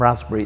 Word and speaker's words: raspberry: sexy and pink is there is a p missing from raspberry it's a silent p and i decided to go with the deficit model and leave that p out i think the arts